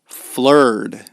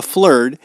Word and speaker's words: flerd: Flur, which is spelled F L E R D.